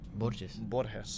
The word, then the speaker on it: Borges: and my ancestors before me, I decided to pronounce it the correct way. Borges. Borges.